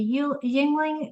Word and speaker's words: Yuengling: Uh, like they'll go to Yuengling Yuengling did I say it right?